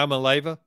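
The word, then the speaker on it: Iamaleava: broke it down into i am a leaver yes but i don't think you're pronouncing it right try it one more time yeah i'm a leyva yeah you gotta thought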